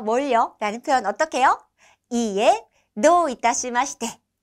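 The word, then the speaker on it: いいえ、どういたしまして: 이에 도 이타시마시테, 이에 도 이타시마시테 라고 발음하시면 됩니다.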